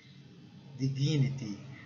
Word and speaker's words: dignity: To die with dignity, dignity. Essa palavra é como se tivesse duas sílabas fortes, dignity.